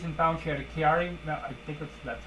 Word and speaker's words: Chiari: So they went and actually did studies and found she had a Chiari, I think that's how you pronounce it, Chiari or Chiari malformation, which is a problem with the skull.